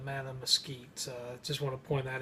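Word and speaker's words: Mattamuskeet: as mad at Mesquite it's not madam musket but madam Skeets just want to point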